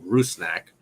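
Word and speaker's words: Rusnák: Albert rusnak Ruth snack I saw the pronunciation guide that our guy James wallered on Twitter the PA announcer got said Ruth snack um so we're gonna try to go with that um anyway but the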